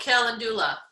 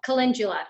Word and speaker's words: calendula: Oh, calendula. Oh, calendula. Yeah. Or calendula.